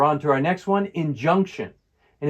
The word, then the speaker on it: injunction: Stress is on the middle syllable.